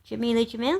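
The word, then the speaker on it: Jameela Jamil: And other people, other women, influential women on the front cover, they go from Jamelia Jamil. Is that how you pronounce her name? Jamelia Jamil?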